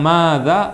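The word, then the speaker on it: ماذا: namanya paham tu ah kalau mau bilang Maza manyanya panjang enggak Hah panjang Ma dza panjang ada madnya ada kata panjangnya Tamam itu di situ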